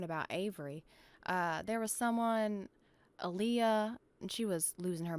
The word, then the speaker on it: Aaliyah: Elia Ryan was just saying a bunch of things to the It's Aaliyah. president. Get it right. It's Aaliyah.